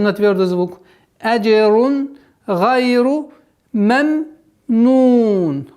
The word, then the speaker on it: مَمْنُون: Вот здесь нужно на втором произношении звука мим нужно не торопиться, потому что торопливость в этом моменте переходит в калькаля. Меменун, меме. А нужно спокойно. Мемнун, мемнун. Договорить звук второго мима с сукуном.